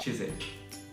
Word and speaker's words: Chiswick: So this word here, it's actually pronounced Chiswick.